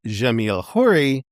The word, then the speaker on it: Jamil Khoury: I am your host, Jamil Khoury, Arabic pronunciation Jamil Khoury, founder and director of Polycultural Institute, the think and create tank of Chicago's Silk Road Cultural Center.